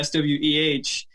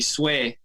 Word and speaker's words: Sweh: So the reason why I spell it that way, SWEH, because number one, in Spanish, if you're using the proper Spanish pronunciation, it would actually be Sweh. and not Sweh. So Sweh is like the Americanized version.